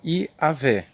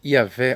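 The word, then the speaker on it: Javé: é o tetragrama Yi e ele é pronunciado geralmente como I Avé Ok mas nós não vamos dar atenção tanto a pronúncia onde é que eu quero prender a sua atenção é que o tetragrama certo que chama-se yahvé ou pronuncia-se yavé é os 70 eles geralmente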